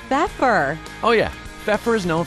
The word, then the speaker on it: Pfeffer: ceramic floors right in time for spring at beefer no it's pepper oh yeah pepper is known for quality customer service at an everyday affordable price listen to your home and see pepper today it's pronounced pepper we stand for phenomenal